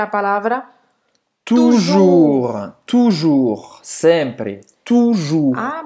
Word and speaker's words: toujours: mas tem outro uso toujours. também, viu? Tem Ah, é? outro uso também, mas eu vou dizer depois. Tá. Toujours, sempre. Então não vai falar o S, né? Toujours, não pronuncie um S.